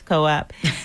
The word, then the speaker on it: co-op: You can reach us on socials at One Community Grocery Co-op and that's C O P spelled like Coupe but it's co-op.